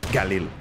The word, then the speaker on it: Galil: Galilea. Best gun. Galil. Say it. Say it right or don't say it at all. Galil.